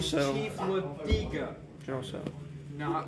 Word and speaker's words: Tso: I was pronouncing it in General Sal. So. The biggest, why do you say Sal? Because I thought that's how it's pronounced. I'm not Chinese. I pronounce it in General Tso. Tso? Tso. Tso personally. No, it's General Tso.